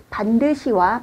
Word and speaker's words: 반듯이: 오늘 저는 여러분에게 반드시와 반드시 두 개의 단어를 구별해 드리려고 해요. 써 있는 것은 다르지만 발음은 똑같습니다.